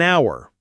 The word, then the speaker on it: hour: So, we use an, an hour, the H is silent.